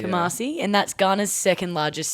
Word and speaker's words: Kumasi: Is that how you pronounce it? Sorry. Yeah, it's Kumasi. Kumasi, and that's Ghana's second largest city.